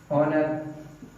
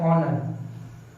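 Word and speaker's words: honour: का उच्चारण आएगा, और कुछ में व्यंजन का उच्चारण आएगा, जैसे पावर, ऑनर, क्या लिखते हैं, हॉकी, हॉर्स।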